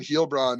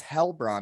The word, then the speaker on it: Heilbronn: But yeah, he was in Heilbronn and this season. I actually sorry, you can say I can say Medveskak, and you can say how you say it. It's Hellbron.